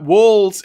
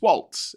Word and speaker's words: Walz: from now on uh like The Waltons but shortens the Walt uh more than one